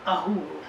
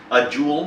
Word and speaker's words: Ahool: to discuss another interesting cryptid, this time, the Ahool. That's correct. Did I say that right? Yeah. Ahool. The Ahool. I want to make sure sit there and mispronounce it. Ahool? A jewel?